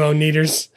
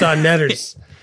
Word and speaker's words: O'Netters: Make a lot of money off you, O'Neaters. It's pronounced O'Netters. It's the O'Netters.